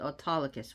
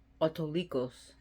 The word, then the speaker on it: Autolycus: That's how they pronounced it, Autolycus, which was played by the character. Oh, what's his name? Bruce Campbell. Of course, you know him from Evil Dead, Army of Darkness. Ash versus Evil Dead. Which is actually Autolycos. Autolycos is a better pronunciation, which means the wolf itself.